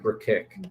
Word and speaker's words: Brkic: So it's like brick, but Burkick.